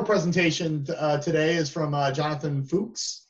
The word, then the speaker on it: Fuchs: Okay, so our final presentation today is from Jonathan Fuchs. Fuchs, did I say it right? You did, yeah. All right, Fuchs, who's a research associate